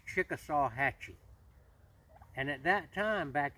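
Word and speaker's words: Chickasawhatchee: over in Albany Georgia the way I pronounce it as Chickasaw Hatchy and at that time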